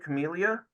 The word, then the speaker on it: Camellia: Camellia? Yes, Camellia, like familia, but with a C and not an F.